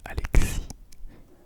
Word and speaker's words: Alexis: Oh, Alexis, Alexis, Alexis, Alexis, pour celles et ceux qui prononcent le S, Alexis, tac.